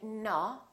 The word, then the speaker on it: no: We don't say no, we say no. So it's actually two sounds, it's O and U together.